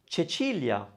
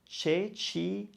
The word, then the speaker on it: Cecilia: So you have seen the combination CI and CE before in Italian, and you have always pronounced it chi and che. There's the name Cecilia. Cecilia.